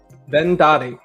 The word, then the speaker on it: Verndari: do you say it then Daddy there you go yeah then Daddy the r is silent but it's in there well so the first